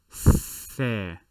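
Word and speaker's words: ثاء: would be three dots this letter is called fair and notice that i am placing my tongue between uh my teeth upper and lower fair fair in english it would somewhat be th a but if you say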